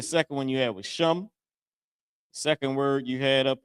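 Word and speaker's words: שם: I forget the other one but sham. Sham is how you say name in Hebrew.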